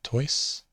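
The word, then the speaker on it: τοῖς: we have apostolos who toys and notice the omicron iota in the middle is pronounced oy as in oil so toys now you can see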